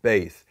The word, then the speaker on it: bass: s like the fish like bass but we pronounce it bass but it is indeed also the base it